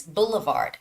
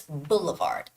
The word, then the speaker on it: Boulevard: and the word is Boulevard Boulevard so you make it you sort of cut that word into three syllables and the stress is on the first syllable so it's Boulevard Boulevard and we do see